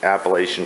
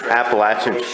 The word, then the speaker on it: Appalachian: this realm of hiking and through hiking the Appalachian Trail I can say Appalachian Trail right now